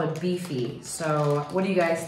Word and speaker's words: BiFi: You pronounce it Bifi? B-I-F-I? Yeah.